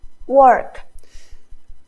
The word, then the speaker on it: work: So walk. Work. Try this aw sound. Aw. Or sound.